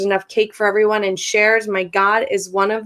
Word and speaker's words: Sherz: her bio yes um shares which is pronounced like more than one share is an Iranian American